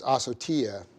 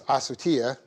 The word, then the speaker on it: asotia: That's A-S long O-T-I-A. It's asotia. Sorry about that. The accent is on the I. So it's asotia.